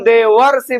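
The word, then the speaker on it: देवर्षि: में कैसे देखते हैं जब हम देवऋषि बोलते हैं तो पहले र का उच्चारण करते हैं या पहले मूर्धन्य श का उच्चारण करते हैं तो हम हमेशा ध्यान रखिएगा बच्चों हम किस का उच्चारण कर रहे हैं पहले हम पहले र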